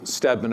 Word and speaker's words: Stedman: There's a General Stedman, a brigadier general, S with two E's in his name, but pronounced the same way, who was also at